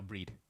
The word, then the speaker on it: Bride: Is it Bride or Breed? Uh I believe it's pronounced Breed it's a reference to the goddess of victory Breed. Yeah so most people I think in the US especially call it Bride.